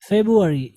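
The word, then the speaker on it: February: फेब्रुअरी, यहाँ पे आर को साइलेंट करते हैं, अमेरिकन भी, ब्रिटिश भी, ठीक है। तो क्या पढ़ते हैं उसको? फेब्रुअरी, फेब्रुअरी। अब बिल्कुल फेब्रुअरी नहीं पढ़ेंगे, लेकिन साइलेंट काफ़ी हद तक करते हैं, फेब्रुअरी।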